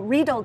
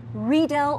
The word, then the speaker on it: Riedel: Riesling everyone says Riesling or Riedel glasses you know read old glasses but it's actually read L or Riesling Riesling and